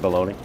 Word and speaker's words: bologna: that is not rainbow loaded correct is it baloney it is Big baloney it is Big baloney